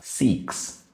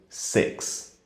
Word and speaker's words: six: Se você faz o som com o I e o acento agudo, se torna o verbo procurar, seeks. Se você usa o E aberto demais, como se fosse um acento agudo, vira outra palavra também, sex. O correto seria um meio termo, como se fosse um E com um acento circunflexo, six. Seeks, sex, six.